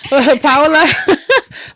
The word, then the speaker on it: Paola: And you know what I want to say about Paula on here. let's let's pronounce it correctly. Yes. Paola Paola is a success coach, author, and professional